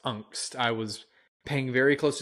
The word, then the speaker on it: Angst: Yeah, I was gonna say it is pronounced Angst. I was paying very close attention anytime he said it, so it is pronounced Angst.